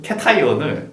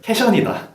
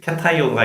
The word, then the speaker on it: cation: 그거의 발음에 대해서 몇몇 친구들이 양이온, 캐타이온을 캐션이다.